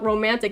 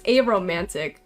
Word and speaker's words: aromantic: I've been saying your username wrong, haven't I? Art block romantic. It's aromantic. I got you now.